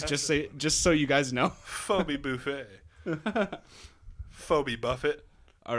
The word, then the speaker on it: Phoebe: Phoebe.